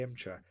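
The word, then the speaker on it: Emcha: it was called the M chat they soon became known as empty tanks pronounced M chat because the four looks like the Russian letter exactly that yeah M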